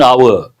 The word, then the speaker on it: hour: We use the indefinite article and before words that begin with a silent or mute H. For example, an hour, and here an honorary degree.